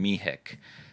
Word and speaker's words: Mehic: So my last name turns into the American pronunciation Mehic.